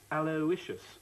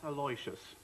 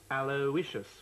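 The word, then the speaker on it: Aloysius: be a common link alicious actually the correct pronunciation ation of your son's name is aloicious not alious H alious it can't be a l o y s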